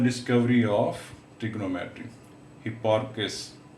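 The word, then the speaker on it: Hipparchus: He made the discovery of trigonometry, हिप्पार्कस। तो ये बेटे इसकी करेक्ट प्रोनाउंसिएशन है।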